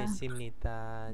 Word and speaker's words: 계십니다: kesimnida. Jadi 계십니다. jadi kesimnida atau dibacanya bisa G, bisa pakai E ya, langsung E juga bisa ya, kesimnida atau kesim, nggak ada bedanya ya, hampir tidak berbeda maksudnya.